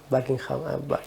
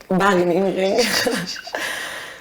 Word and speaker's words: Wageningen: Tu pronuncies molt bé, l'holandès. Joder, molt de temps. I què tal allà? Buckingham? Wageningen.